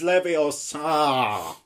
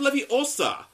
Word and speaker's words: Leviosa: your Tsar you got something it's like you pronounce I did not yeah oh it's Leviosa oh hi mark not got any friends it is not Libby Oh sir it's not true it's this